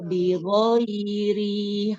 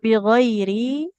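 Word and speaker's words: بغير: berikutnya mau waq lahumul anbiya heeh waq lahumul anbiya bighairi haq tidak bighiri Rnya enggak boleh dipanjangkan, Ibu.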